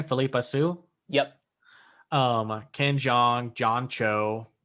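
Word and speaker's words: Phillipa Soo: Philippa Sue.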